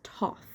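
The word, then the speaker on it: Thoth: so far is that in the first two books the god of knowledge was pronounced as th and in this one it's pronounced Toth uh which is interesting most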